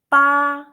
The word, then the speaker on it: 八: Okay, so the first consonant that we pronounce 波, 波. Yeah, okay, so this one, let's practice. That's 八.